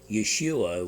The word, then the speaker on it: Yeshua: Yeshua would be the way it would, close to the way it's pronounced.